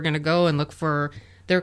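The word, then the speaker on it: phở: uh f F yeah fo is the best what was what is well I think Americans call it Fox but it's F it's just the noodle soup oh okay yeah I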